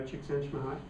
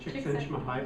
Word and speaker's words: Csikszentmihalyi: Have you read anything by Csikszentmihalyi?